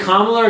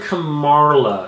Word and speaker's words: Kamala: mispronounce Kamala kamala's name is it Kamala or Kamara it's Kamala I don't know Kamara doesn't make any sense I like Camara carel